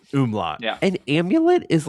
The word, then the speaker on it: umlaut: It's called an umlaut. Umlaut. There we go. Yeah, not an omelet.